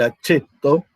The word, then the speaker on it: aceto: Bien, y fíjense que justamente el aceto es la forma en que se pronuncia la C en latín, como una Ch o una CH.